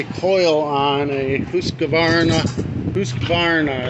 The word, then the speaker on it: Husqvarna: Husqvarna is how it's pronounced. I always call it husqvarna, but husqvarna.